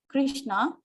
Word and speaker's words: Krishna: The words Hare, pronounced as Hare, Krishna, pronounced Krishna, and Rama rhymes with Rama, are Sanskrit words.